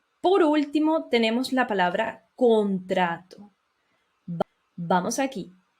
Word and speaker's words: contrato: Y por último tenemos la palabra contrato. Vamos aquí. Contrato, no contracto, no tiene C. Es la pronunciación normal, contrato.